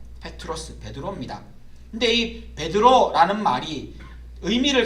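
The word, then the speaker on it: Πέτρος: 저기 나오는 저 표현에 베드로라는 말이 그리스로 페트로스 말로 발음이 됩니다 페트로스 베드로 근데이 베드로라는 말이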